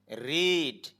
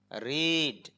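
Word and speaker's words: read: কিন্তু উচ্চারণ করার সময় ভি ওয়ান এর উচ্চারণ হবে রিড আর ভি টু এবং ভি থ্রি এর উচ্চারণ হবে রেড রিড রেড রেড রেড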